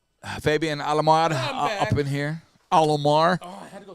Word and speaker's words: Alomar: Alomar. Oh, I had to go take a poo-poo. You know, Alomar rhymes with Shalimar.